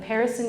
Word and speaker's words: Perisson: For those of you who don't know me, I'm the broker and owner of Perisson Real Estate. It's pronounced like Harrison with a P.